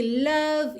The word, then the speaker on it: love: Atenção aqui, love you, love you. Lembra que o é final de love não é pronunciado, então você já junta o V no you.